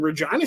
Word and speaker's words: Regina: It's like, yeah, it was quite a culture, change for me coming from even Regina, Saskatchewan. Yes, that's how it's pronounced.